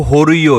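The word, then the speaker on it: Jorullo: यह जो होइयो है इसकी स्पेलिंग जो है जे ओ आर U double L ओ है। लेकिन इसकी जो प्रोनंसिएशन है वो होरियो है।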